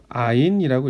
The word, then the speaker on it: 아인: 아인이라고 읽고요.